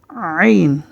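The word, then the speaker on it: عين: হচ্ছে তারপরের হরফটি হচ্ছে আইন আইন গলার ভিতর থেকে আমরা উচ্চারণ করার চেষ্টা করি আইন গলার মধ্যে একটু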